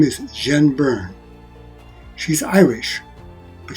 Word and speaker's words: Jian: hero her name is jen byrne she's irish but she has a chinese first name because her mother is taiwanese jean is spelled j i a n so about jen